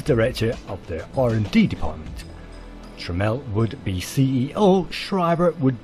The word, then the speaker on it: Tramiel: On May the 17th, 1984, Tramiel Technology Limited, TTL, was founded by Jack Tramiel, pronounced Tramiel.